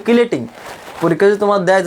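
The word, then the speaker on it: chelating: সর্বশেষ যেটা সেটা হলো তোমার কিলেটিং এজেন্ট বা চিলেটিং এজেন্ট। কেন চিলেটিং বলছি? বানানটা দেখছো, বানানটা কিন্তু সিএইসি কিন্তু চিলেটিং হয়, ঠিক আছে, কিন্তু বাংলায় কিন্তু কিলেটিং।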